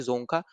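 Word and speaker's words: Dzongkha: Language है यहाँ पे जोंगखा। ठीक है, डी साइलेंट रहता है, तो यहाँ पे ये इस तरीके से याद रखना है, ये है आपका यहाँ पे जोंगखा।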